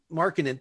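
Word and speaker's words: Markkanen: Another guy I like, I don't know if I could pronounce it. He went to a horrible university. Is Larry Markkin? Markkin.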